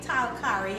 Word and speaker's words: talkari: some saltfish so fake tari or fake talari as it's normally pronounced to is basically just